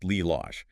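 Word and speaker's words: ללוש: Lelouch, to knead, in Hebrew to knead, is Lilosh, pronounced Lilosh.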